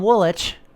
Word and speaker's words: Woolwich: native facing off against from Woolwich if you ever heard me pronounce that town any other way you were gravely mistaken that's in the dirt